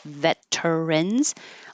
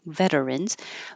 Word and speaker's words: veterans: middle so instead of veterans although you will hear some people say veterans the T changes to a d veterans but most of the time it's being shortened to just two syllables and keeping the T